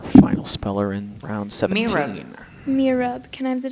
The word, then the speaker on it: mihrab: Are there any alternate pronunciations? No. Mirab. Can you use it in a sentence, please? A rich mosaic decorates the mihrab of the mosque that Mahmoud attends. Mirab. Mirab. M-I-H-R-A-B. Mirab.